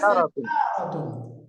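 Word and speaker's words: سَيَّارَةٌ: গাড়িকে আরবিতে বলে সাইয়ারাতুন। সাইয়ার, হ্যাঁ বলেন তো, সাইয়ারাতুন। উচ্চারণ সাইয়ার, হবে সাইয়ারাতুন, সাইয়ারাতুন। একটু বলেন আমার সাথে, সাইয়ারাতুন।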